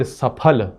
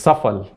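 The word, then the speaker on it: सफल: And even brands, so it is actually the word Saphal which means successful, but we can’t spell it correctly, we can’t pronounce it correctly and its Safal and somehow it feel very polished about saying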